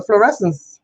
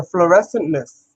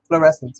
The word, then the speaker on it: fluorescence: guys can see the fluorescence, the fluorescentness in it, right? Is that how you say it? Fluorescentness? Fluorescent something. Fluorescence, you guys. Fluorescence.